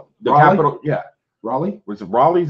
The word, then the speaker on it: Raleigh: how to say that name the capital yeah Raleigh was it Raleigh is how you say it